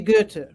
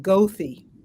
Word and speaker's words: Goethe: So it's supposed to be Goethe, and I suppose any European would pronounce it like that, but we pronounce it Goethe.